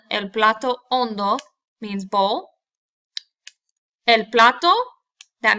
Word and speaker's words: hondo: It's not hondo. Okay, remember the H is silent. El plato hondo means bowl.